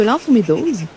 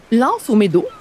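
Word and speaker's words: L'Anse aux Meadows: L’anse aux Meadeaux, ou “L’anse aux Meadows” (Prononcé en anglais) est un mélange linguistique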